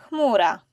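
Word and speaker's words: chmura: The Polish h sound is similar to the English h but with more friction. Think of a sound you make when you're trying to fog the mirror. Or when you're saying Harry.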